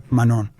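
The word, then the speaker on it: Manent: Y estoy pronunciando correctamente Pierre Menan. Probablemente no necesites decir la te chaman. Muy bien. Si quieres hacerlo en francés real, debes lograr el sonido nasal que puedes probar. Manón.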